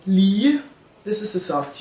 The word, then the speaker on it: lig: So the soft G becomes a J when there's only 1 in between 2 vowels. It can also just be the end of a word, like lig, corpse, for example.